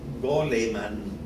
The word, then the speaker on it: Goleman: importantes un psicólogo norteamericano y si lo pronunciamos un poco para castellana lo llamaríamos daniel goleman o sea de gol pero este daniel goleman